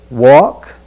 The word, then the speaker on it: walk: next sentence as we look at the word walk remember there's no in walk walk that walk